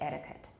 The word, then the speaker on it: etiquette: i never heard that i say etiquette etiquette okay not etiquette either it's a schwa etiquette good the second one replica